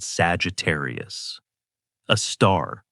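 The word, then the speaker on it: Sagittarius A*: A super massive black hole called Sagittarius. A star pronounced Sagittarius a star.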